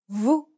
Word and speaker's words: vous: Vous, Notice that the S is silent in this word. vous. In many cases, the final consonant isn't pronounced.